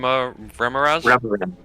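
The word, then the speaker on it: remorhaz: this what was it called a rem REM remz okay can you spell that again for me r e m o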